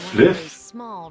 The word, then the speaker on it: Fliff: Da spricht man doch nicht Fly aus, du Vollidiot. Das heißt Fliff.